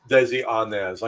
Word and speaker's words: Desi Arnaz: that was nice for desi arnaz i know william with his english accent accident pronounced the name correctly but that was desi anez also known as ricky